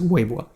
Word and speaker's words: Weibo: So a user on Weibo, I think that's how you pronounce it in Chinese, Weibo.